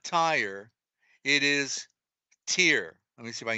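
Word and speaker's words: Tyre: is and it's spelled TI they all everybody pronounced it a tire but it's not Tire it is tier let me see if I can get bigger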